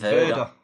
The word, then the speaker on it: Werder: How do you say it? What's the difference? Werder. Oh, With a B. Werder. Yeah, It says W. it's German.